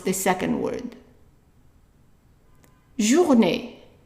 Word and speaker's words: journée: Now, if I tell you that the E with an accent on top of it is pronounced as a short A. Not A, just A. And of course, the last E is silent.